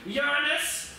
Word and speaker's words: Uranus: Yes, this one is not going to Mars, not going to Venus, not going to Uranus. That's how they say it. I know you wanted to say it the other way.